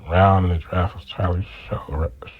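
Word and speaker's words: Tyler Shough: They just drafted a quarterback, I think, in the second round in the draft was Tyler Show, right?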